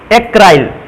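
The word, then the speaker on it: acryl: थोड़ा सा बदल गया, एक्राइल या एक्रिल भी पढ़ सकते हैं, इसको एक्रिल भी पढ़ते हैं, एक्राइल भी पढ़ते हैं। ये इंग्लिश लैंग्वेज है, उच्चारण एक या दो प्रकार से हो सकता है इनका।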